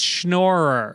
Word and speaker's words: schnorrer: different than schner yeah that's not schner that's shnorer i think it's yiddish